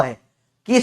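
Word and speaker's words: Hooke: आ उनका नाम था हुक्के हुक्के हुक बोलते अंग्रेज मैं हुके बोलता हूं क्योंकि स्पेलिंग से हुक्के सुनाई देता है मेरे को साइंटिस्ट का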